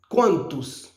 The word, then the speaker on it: quantos: Mais généralement, l'on pose question, toujours faire le son S prononcé parce que le portugais ici, c'est pas l'espagnol qu'on ne prononce pas et les S à la fin. C'est quantos.